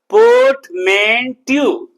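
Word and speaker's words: portmanteau: Port अगर पढ़ देते तो गलत हो जाता, चूंकि रा के पहले स्वर है। फोनेटिक्स पढ़ चुके हो, सुना है थोड़ी बहुत कि रा के पहले स्वर होगा तो रा का उच्चारण नहीं होगा।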